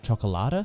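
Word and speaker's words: Cioccolata: like it seems to be the most intense chocolata is how you say his name with his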